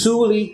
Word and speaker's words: Suli: It's Suli, spelled with an S.